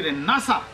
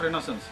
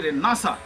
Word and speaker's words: Renaissance: And then he said, this is not an English word, this is French word and it should be Renaissance, not Renaissance. It should be Renaissance.